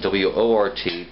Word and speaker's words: wort: We now have a sweet unhopped wort, okay, and that's W-O-R-T, pronounced wort though.